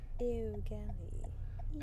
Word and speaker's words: Eau Gallie: No one can ever pronounce that O-U-O. Eau Gallie.